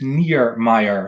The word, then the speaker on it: Niermeijer: your last name elko my last name is near meyer so it's not as difficult as it looks like okay yeah that's not